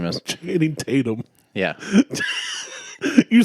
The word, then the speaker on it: Channing Tatum: Well, it's Chatham Tanning. Or Chatham, whatever the fuck his name is. Channing Tatum.